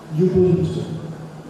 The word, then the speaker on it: Ubuntu: with him there's an African word that is pronounced Ubuntu you are because I am you are because